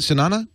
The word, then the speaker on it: Sunana: Is that how you say it? Sunana? Yes, that's correct.